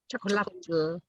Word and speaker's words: chocolatl: consumed as a beverage called chocotl. Is that how you pronounce it? Chocolatl. Chocolatl. Yeah, exactly. And which you get the modern day chocolate from.